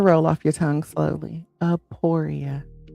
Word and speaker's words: Aporia: And today's word for that middle is Aporia. Aporia.